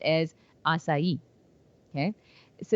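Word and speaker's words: açaí: anyone hasn't heard it but it's spelled it's pronounced as asai okay so it's kind of um assai is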